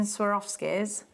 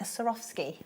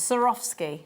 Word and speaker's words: Swarovski: wrong don't ask lovely how do you say say the Sirah script Saurav ski yes sir off ski so like I should say like sir off ski like Mike Fletcher went off skiing sir off ski yeah